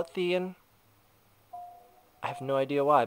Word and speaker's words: Thian: And yes, I call his name Thean. It's spelled T-H-I-A-N. I prefer to call it Thean. I mean, I don't know. People are saying, like, well, shouldn't it be Thian, like Brian? No, I call it Thean.